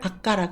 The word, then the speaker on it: 悪化: 악화를 악가라 그럽니다.